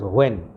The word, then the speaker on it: WAME: Okay, and when, WANE, when, it is pronounced as when.